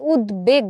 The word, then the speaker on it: উদ্বেগ: তার মানে আমরা এখানে উদ্বেগ বলছি উচ্চারণটা আসলে আমরা এরকম করে করছি উদ তারপর হচ্ছে বেগ এখন এই বফলার উচ্চারণটা কি হচ্ছে বহাল থাকছে কেন বহাল থাকছে এই